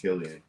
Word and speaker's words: Cillian: But with all that said about Cillian Murphy, he was not the best performance. I thought it was pronounced Cillian. I thought so too until I heard him in an interview and it's Cillian.